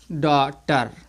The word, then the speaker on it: daughter: इसको जो है, इसका जो प्रोनाउंस होगा ए का, वो क्या होगा, वो जो है बड़ा आ से हो रहा होगा, इस तरीके से आ, ठीक है। इसको क्या लिखेंगे, डॉटर, डॉटर, इस तरीके से